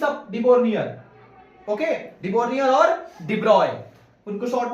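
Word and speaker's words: de Broglie: लेकिन आप देखो इसको शॉर्ट में भी हम लोग डिब्रॉय डिब्रॉय बोलते हैं।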